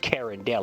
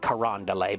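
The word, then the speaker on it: Carondelet: truck it was so funny so it's not pronounced Karen Del it it's pronounced kand that's that's how that's how the Cajun like uh that's how they pronounce it they call it karand Del but he was calling it Karen delit and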